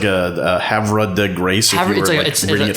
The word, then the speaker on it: Havre de Grace: It's like a Havre de Grace, if you were reading it phonetically.